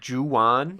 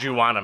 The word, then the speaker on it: Juan: and the principal pronounces his name Juwan. Oh, boy. Yeah. Like Juana Man. Like, And he's like, no, it's just Juan.